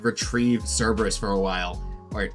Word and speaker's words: Cerberus: has to, like, retrieve Cerberus for a while. Or I think the Greek pronunciation is like Kerberos or Keberos, right, or something, whatever.